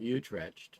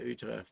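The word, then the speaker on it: Utrecht: What is it any relation or they may call it utretched but any but uh it's Utre is the proper pronunciation and then from there we'll return to Amsterdam for our flight home.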